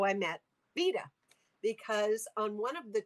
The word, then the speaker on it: Veta: The way I met Veta, do you say her name Veta or Veda? Vita. Vita. Veta.